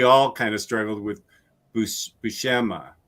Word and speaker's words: Buscema: kind of struggled with Buscema. Buscema? Buscema? Bushima. What? Bushima? I believe it's Bushima.